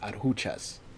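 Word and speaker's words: Adjuchas: Finally, the last the record it's pronounced aruchas. It's Spanish, so the J is kind of silent for the most part.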